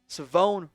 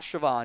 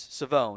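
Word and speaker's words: Shavon: It is Savone Revel. Savone, not Siobhan. It is Savone.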